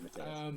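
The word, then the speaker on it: Matteusz: you just pronounce it Matthias.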